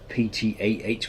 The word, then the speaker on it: Ptah: because they have like ptah which is actually ta you don't pronounce the p same with ptolemy you